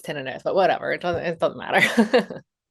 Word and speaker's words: tinnitus: Technically it's tinnitus, but whatever.